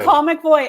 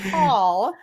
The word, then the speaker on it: Colle McVoy: I have to um give you the proper pronunciation. I'm call McBoy. Everybody screws this up, so you're totally cool. It's call.